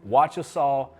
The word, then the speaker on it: Wachesaw: It's pronounced Wachesaw Plantation.